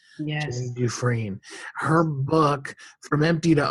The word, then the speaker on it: Dufresne: is spelled du capital f s NE it's pronounced d but it's DF s n e yes duine her book from empty to overflow um is